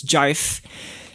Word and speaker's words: GIF: remember in one video he pronounced GIF as jife, and I'd really like to call it jife, but I don't think people are gonna know what I talk about if I say jife.